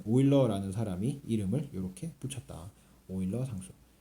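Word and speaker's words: Euler: 사람이 이름을 요렇게 붙였다 오일러 상수 e 아 독일어에서는 이유를 오이라고 읽어요 그래서 유럽도 영어에서는 e o 유럽이라고는데 독일어에서는라고 저을 안고 오이로파 오이로파 이렇게 읽어요 그래 요거는 오일러 영어권에서는 일러를 러라 읽어요 율러 어쨌든 거를 오일러 상수라고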